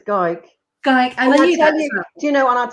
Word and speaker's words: Gayk: teachers said it is gay with k on the end pronounce like dyke and you'll get it